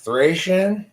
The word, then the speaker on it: Thracian: It's pronounced Thracian, as in someone from Thrace.